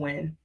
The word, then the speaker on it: Nguyen: You pronounce Nguyen, I think, Win. Oh, it's Win? I think so, yeah.